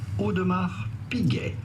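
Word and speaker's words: Audemars Piguet: at how to pronounce odmar Pig odmar p p the S at the end of odmar is definitely silent and so is the T at the end of p i mean I'm not going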